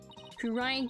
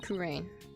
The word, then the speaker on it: Kurain: three syllables it my I say two syllables just cuz it's faster it's just for differentiation so kurain kurin Ry heard what happened